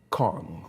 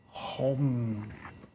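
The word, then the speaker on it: Không: most simple for me, it's spelled Khong, right? And to the American mind, or to the Western, that would look like Kong or Kong, But in Vietnamese, they pronounce it like this: Hom, Hom.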